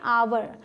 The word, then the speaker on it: hour: उसी तरीके से ये HOUR, एच है लेकिन एच साइलेंट होता है, आप इसे क्या पढ़ते हैं? आवर। तो जो ध्वनि है वो आ की है, ठीक है, इसलिए एन का यूज़ किया।